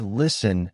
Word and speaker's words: listen: For example, the word listen has a silent t.